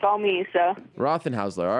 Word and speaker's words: Rothenhausler: let me just uh make sure am I pronouncing your last name correctly it's aozi rocken Hustler yeah it is I mean I've heard it a couple different ways but yeah it's all me so Roth and hler all right so uh congratulations on for a